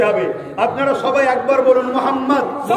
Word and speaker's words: মোহাম্মদ: নাম নিলেই বলতে হবে আপনারা সবাই একবার বলুন মোহাম্মদ আপনারা উচ্চারণ করুন মোহাম্মদ খেয়াল করে দেখুন নবীর